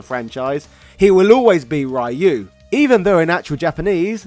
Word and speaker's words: Ryu: country throughout the film most of the characters pronounce his name as rayu instead of Ryu being an old school